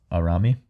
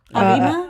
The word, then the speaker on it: Arima: I honestly didn't expect it to be Arami. I always get her name wrong. Arima? Arima. Kana. Arima. Kana. Kana. Arima is her last name.